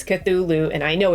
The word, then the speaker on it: Cthulhu: Um, but before we go any further, I need to apologize because for some stupid reason I mispronounced Cthulhu. I know it's Cthulhu and yesterday I was calling it Cthula and I don't know